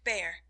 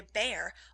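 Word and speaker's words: Bhaer: It isn't pronounced either bear or beer, as people will say it, but something between the two, as only Germans can give it.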